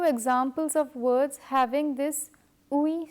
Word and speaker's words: oui: In this letter combination, both the letters are pronounced separately but without a pause. This makes it seem like one single sound. Oui, oui.